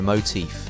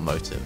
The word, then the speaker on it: motif: There's always a motif. It's not motive. I know I'm saying it wrong. Motif.